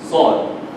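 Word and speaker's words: ص: Why is Sad an elevated letter? Because we want to differentiate the letter Sin. You see, Sin has, where's Sin? There, Sin has teeth. So you show your teeth. Yeah? Mustaqim. Sad is rounded, so you elevate it. Sad.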